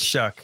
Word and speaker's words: Shough: pronounce his last name, I've heard it's Shuck with a K at the end, even though there's no K. He shucks things. That's it. I heard Shough with a G at the end.